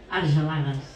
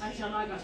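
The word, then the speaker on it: Argelagues: Sony, que es Aulagas en catalán, ¿cómo se dice? Arjalagas. Arjalagas.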